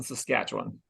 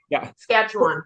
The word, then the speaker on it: Saskatchewan: Also, you're still way too many syllables in Saskatchewan. No. Oh, that's right. Just Saskatchewan. Yeah, and Kelly, you're doing okay, but Corey, he's hitting every letter.